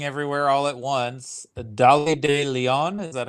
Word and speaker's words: Dolly de Leon: Curtis for everything everywhere all at once the dolly de Leon is that how you say her name yes